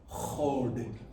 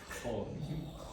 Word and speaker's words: HoD: Duj, dev, chod. I heard a good H over here. I don't think I heard it anywhere else. Chod. Yeah, it comes from the back of the throat.